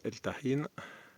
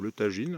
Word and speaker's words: El Tajín: Et donc El Tahin, ou le Tagine en prononciation française, du côté de Papantla, dans l'état de Veracruz, c'est une balade à faire.